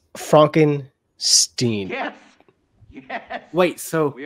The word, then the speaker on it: Frankenstein: It's pronounced Frankenstein. Is that right? Aren't you the grandson of the famous Dr. Victor Frankenstein, who went into graveyards, dug up freshly buried corpses? It's Frankenstein.